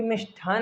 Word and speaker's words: मिष्ठान: क्या रहता है मिष्ठान, जबकि मिष्ठान में ठा ठहरा होता है। इसका थोड़ा विशेष ध्यान रखिएगा।